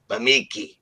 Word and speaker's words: Bemeke: I finally learned how to say it properly. It's Eddie Bemeke. Bemeke.